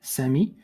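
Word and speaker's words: sami'a: Now let's understand the details of the pronunciation. So the first thing is Sami, okay, Sami, and then I have here is al.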